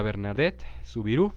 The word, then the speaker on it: Bernadette Soubirous: 18 de febrero, Santa Bernadette Soubirous, bueno, así se pronuncia en francés el nombre, la conocemos más como Santa Bernardita, Bernardita de Francia.